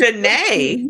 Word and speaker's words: De'Neshay: I corrected him that the way that it's spelled It should be is like Denisha. Dijonay. And it's like, no, nigga. It's Dejanay.